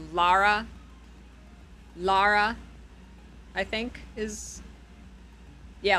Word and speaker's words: Lara: recent games Don't They isn't it Lara it's not Laura it's like Lara Lara I think is yeah like la like lahi it's like L combine lahi and graa it's Lara there you go with